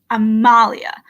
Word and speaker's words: Amalia: Like, I try to, and if there's a syllable that's, and where the capitalized one is where the emphasis goes, because they go, is it Amalia or Amalia? It's Amalia.